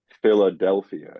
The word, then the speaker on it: Philadelphia: stress too you know you could say like Philadelphia it's the the e in the in the syllable Dell that gets the main emphasis but fi gets the secondary so anyway the Trope